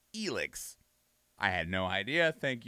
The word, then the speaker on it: Elex: now i i realize we did a trailer during the initial like reveal for this and i was pronouncing it alex and i have been corrected because apparently the